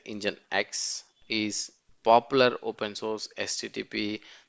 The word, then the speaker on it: nginx: the requested content nginx actually pronounced as the engine X is popular open source